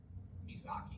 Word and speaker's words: Mizaki: play drums I do vocals and we are mizaki okay how do you pronounce it mizaki m i z a k i okay what